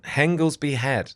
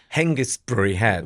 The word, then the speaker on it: Hengistbury Head: Oh, Yeah, Henglesby Head. yeah I think it's spelled like Hengistbury or something like. Hengistbury Head. We always used to say Henglesby Head.